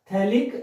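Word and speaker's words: phthalic: बोलते हैं थैलिक acid, याद रखें PS साइलेंट रहता है, थैलिक एसिड।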